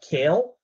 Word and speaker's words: CAEL: name so it's called kale which is pronounced the same as the uh the vegetable uh which i'm not